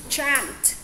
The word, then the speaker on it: chant: Ví dụ như chỗ này mình sẽ đọc là success chant đúng không?